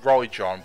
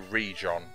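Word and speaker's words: Jaeron: this land called now I want to say Rajon but I know it's pronounced to read John as in region my name is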